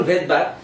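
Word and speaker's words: Svedberg: ভাই রাইবোজোমকে বিজ্ঞানী ভেদবার্গ, যার কোনো কাম নাই, ভেদবার্গ বানালে এরকম সবেদবর্গ এস দিয়ে তার প্রথম উচ্চারণ ভেদবার্গ, কিন্তু বানান লিখতে গেলে এস দিয়ে লিখতে হয়।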